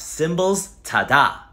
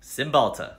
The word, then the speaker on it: Cymbalta: Chillin okay what else I recently got off symbols ta-da and what was that for symbols ta-da is for my depression and anxiety Cymbalta great anything else I